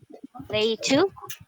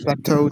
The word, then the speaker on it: plateau: Can I have Ladra to read this one? Play 2. Am I reading it right, teacher? Play 2? Y- Yes, you are. That's right. Oh, Delphine here said no. Oh, What is the correct pronunciation? Okay, so since Delphine said it is not right, so can you give me the right pronunciation, Delphine? It's plateau, teacher.